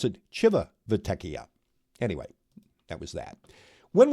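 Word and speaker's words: Civitavecchia: though it's it's spelled Civ uh they they pronounce it Chiva vekia anyway that was that when we got to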